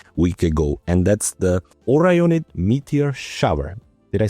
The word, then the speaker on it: Orionid: And that's the Orionid meteor shower.